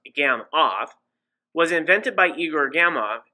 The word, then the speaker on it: Gamow: grunted at the noodles a gammoff bag pronounced gam off was invented by igor